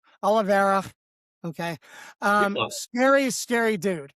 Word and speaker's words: Oliveira: Also, fellas, I've said last week, Oliveira kind of did I say it wrong again? Oliveira. Oliveira.